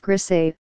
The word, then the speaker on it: Griesa: In 1981, Judge Griessa, pronounced Grisé, dismissed all the plaintiffs' objections except the one involving the fish study, which he said required a further hearing.